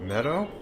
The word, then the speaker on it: Medoh: You head down to Meadow. Good luck. Hey, I was pronouncing it correctly. It's all you. All right. Yeah, he pronounced it Meadow just like I've been.